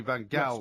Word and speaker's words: van Gaal: way, the definitive version of his name, Louis van Gaal. apparently MUTV, which is Manchester United's in-house TV station, as I'm sure you know, I do. pronounces it Van Gaal.